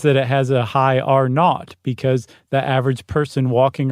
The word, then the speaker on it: R0: And that reproduction number uh they in the in the biz it's pronounced R not.